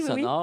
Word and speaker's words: Sonor: Sonor, oui. je pensais que c'était anglais. Sonor. C'est allemand.